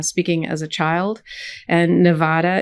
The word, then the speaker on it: Nevada: as a child and Nevada is pronounced Nevada if you're a Spanish speaker and it actually means